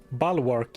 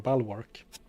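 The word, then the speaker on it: Bulwark: Balwark is the pronunciation. Yeah, that's what I'm saying. Bal work, right? No prayer guy at all. What are you looking for? Bal as in the animal.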